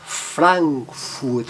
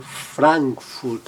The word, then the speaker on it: Frankfurt: na tela a palavra Frankfurt, a cidade alemã, Frankfurt ou Hamburg, seguido de M e N, o A, mas ele mantém um som bem aberto, Frankfurt, Hamburg.